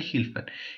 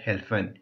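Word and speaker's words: helfen: சி மியர் hill ஹெல்ப்பன் இல்லாட்டி ஹில்பன் ஹெல்ப்பன் என்றது தான் சரி நான் ஒரு தங்கச்சி ஒரு ஆள்ட்ட கேட்டேன் அவர் சொன்னா இல்ல ஹெல்ப்பன் என்று தான் சொல்லணும் அப்படின்னு சொல்லி ஏனென்றால் அதை சுவிட்சர்லாந்துலே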